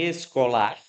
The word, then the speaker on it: escolar: Em escolar, esse lá é a sílaba mais forte. Escolar é uma oxítona também, mas não tem acento, né?